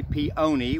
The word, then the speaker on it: peony: Hi, Jamie with UK Extension, and today we're in the garden talking about peonies, or peonies, whichever you prefer. Technically peony with a long O is correct.